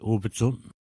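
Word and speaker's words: Obedjiwan: C'est comme Obidjouan. On dit Obidjun. Obidjouan, Obidjun. Oui, c'est la même chose aussi.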